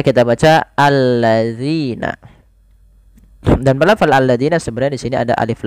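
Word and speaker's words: الَّذِي: kedua ayat yang kedua alladzi jama Ma pada lafal alladzi bila kita mendapati huruf alif yang bentuknya seperti ini di awal bacaan ini tidak dibaca dengan bacaan u tapi ia membacanya dengan a ini bukan tanda harakat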